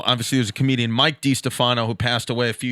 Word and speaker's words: Distefano: wanted I don't wanna say it wrong Chris de Stefano this Stefano lady's number Chris de Stefano Chris